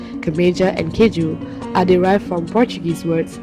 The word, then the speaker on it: keju: Keju is pronounced similar to how we would pronounce the Portuguese word, but the only difference is that we say keju, which ends with a U vowel, and the Portuguese words end with an O vowel.